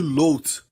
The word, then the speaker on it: Lot: Ló é na verdade Lot, é assim que se pronuncia, e Lot em hebraico quer dizer véu, uma cobertura, um véu ou cobertura.